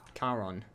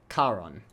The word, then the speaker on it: Charon: Charon, apparently. Always pronounce that with a soft CH sound.